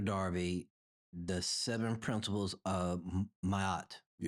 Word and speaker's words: Ma'at: Darby, the seven principles of Mayat. Yes, sir. Did I pronounce it correctly? Yes. Mata. Mahat.